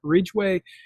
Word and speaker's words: Ridgway: Ridgeway is spelled Ridgway.